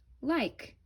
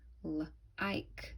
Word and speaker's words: like: Like. But did you know that that silent E makes the I say its name? It makes the I say I. Like, like.